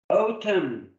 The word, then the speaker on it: autumn: Autumn. We don't pronounce the noun.